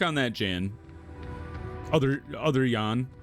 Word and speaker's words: Jan: Other other Yan. I don't know why I said Jan.